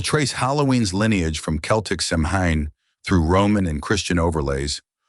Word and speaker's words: Samhain: Begin at Samhain, pronounced Samhain, the Celtic festival marking summer's end and the New Year's threshold.